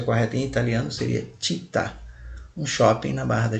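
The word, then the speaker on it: città: da Tijuca significa cidade é muita gente fala cita mas a pronúncia correta em italiano seria ti tá um shopping na Barra da Tijuca então Maio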